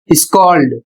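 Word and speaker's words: scold: अगला शब्द है एस सी ओ एल डी स्कॉल्ड और इसका अर्थ होता है डांटना।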